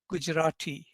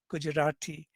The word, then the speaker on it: Gujarati: its own speakers say gujarati gujarati not a strong retroflex it's kind of post alveolar but 49 such tokens